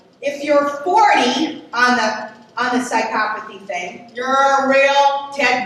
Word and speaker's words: psychopathy: Okay, so psychopathy, that's the correct pronunciation, not psychopathy, it's less than maybe 1% of all people that have hardwired brains, and maybe 1 to 2%.